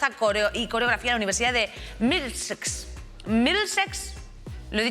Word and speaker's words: Middlesex: Middlesex?